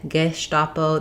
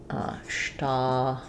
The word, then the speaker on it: Gestapo: And then in German, they'd use a little more Gestapo. They have kind of a different vowel there. We're just going to use more of an sound because it's not stressed in American English. So looking at the IPA, we would have Gestapo for American English.